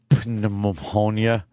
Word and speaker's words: pneumonia: Get rid of the P already. Right. There's no reason for that P to be there. I hate the P in pneumonia.